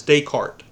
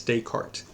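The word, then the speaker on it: Descartes: his last name is dayart it has an S at the end of it and it looks like the S should be pronounced but it it's dayart but when you want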